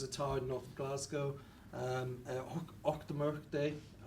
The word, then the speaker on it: Auchtermuchty: Auchtermuchty. It's getting the loch, the och.